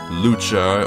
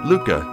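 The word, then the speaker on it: Lucca: It's not Lucha or Luca, it's Luca. Because in the Japanese version, her name only has one C. So it'd actually be pronounced more like Ruka. But here in the States, we're just gonna say Luca. Because they intended for it to be an L.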